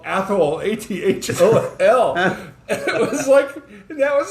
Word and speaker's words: Athol: And there's actually a local video that says if you want to know how to say this town, hold your tongue and call somebody an asshole.